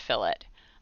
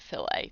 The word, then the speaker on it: fillet: i guess i guess it's supposed to be pronounced fill it um i've heard people pronounce it filet too i'm not really sure but that's why i always say fill it in case anyone